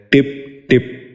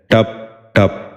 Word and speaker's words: ٹپ ٹپ: ٹمٹمانا۔ تیسرا لفظ ہے ٹپ ٹپ۔ یہ غلط تلفظ ہے، درست تلفظ ہے ٹپ ٹپ۔ دوبارہ سنیے، ٹپ ٹپ۔